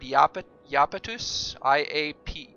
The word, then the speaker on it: Iapetus: I think, isn't there a Latin word iapetus? I-A-P-E-T-U-S, but it's pronounced like a yeah, so there's no need for a J there.